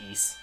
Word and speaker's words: Ys: wise cornicles coming up I probably mispronounce the wise there I can't it's I can't pronounce ye it's ye I you don't say the white it's just e oh man all right